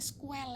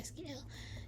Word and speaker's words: SQL: ya ya SQL kalau sebenarnya pembacanya squel ya bukan SQL cuma memang saya lebih